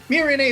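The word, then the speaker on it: Miorine: Meanwhile, Mirine, who, by the way, some of the characters do call her Mirin, so I think it's one of those Japanese, accent type things, whether or not you pronounce the E at the end.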